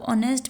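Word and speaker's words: honest: होता है जैसे ऑनेस्ट अब ऑनेस्ट में हम जब प्रोनाउंस कर रहे होते हैं तो हम इट को साइलेंट पढ़ते हैं इट की साउंड नहीं होती हम ओ से स्टार्ट करते हैं इसकी प्रोनंसिएशन ऑनेस्ट हम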